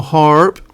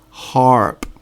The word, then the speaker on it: HAARP: years ago not just what's happening now now haarp is i'll tell you again it's it's spelt h a a r p and it's an abbreviation which stands for high frequency active oral research program harp now the information again is freely available on